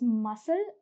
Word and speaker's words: muscle: Moving on, in case of the words muscle and miscellaneous, the C is silent.